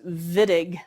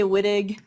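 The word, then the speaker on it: Wittig: okay nice okay so i know it's spelled with a w but this guy was german so it's pronounced vidig with a v if i hear you say whitig i will probably wince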